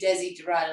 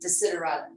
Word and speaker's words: Desiderata: It won't be Desi Dorada, it'll be Desiderata.